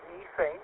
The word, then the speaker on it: methane: And it's pressurized with ammonia and methane or methane as the British say.